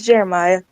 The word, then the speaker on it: Jeremiah: Yeah, it's Jeremiah. It's the way it's spelled.